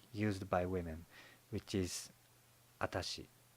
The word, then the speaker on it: atashi: by women which is atachi you can tell that the difference between the pronunciation of vashi and atachi is subtle I think atachi is simp simply corrupted form of Watashi but unlike Watashi atashi